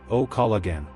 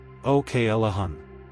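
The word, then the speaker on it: O'Callaghan: Kal like Cal in Calvin, then uh then hun like the start of honey. Okahun. Say it slowly with me. O k a l uh hun. Now normal speed. Oalahan.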